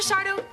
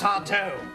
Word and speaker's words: Sardo: Are you Mr. Sardo? That's Sardo. No, mister. Accent on the toe.